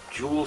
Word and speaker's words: Jool: I came up with Jewel City and for those that don't know that is spelled capital j-o-o-l uh because jewel is